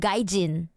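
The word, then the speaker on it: gaijin: No, I think um Mark I think you meant gajin. Gajin. Like the the way you spell it is so Russian though. It's it's it's actually romanized as gajin like that foreigner.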